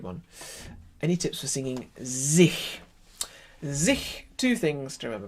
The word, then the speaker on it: sich: If you make an H sound with your high tongue, h, it makes it narrower. Sich.